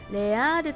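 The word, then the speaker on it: Les Halles: 感じですけどはいレアール着きましたまさかこれねレアルって読むと思わなかったんですけども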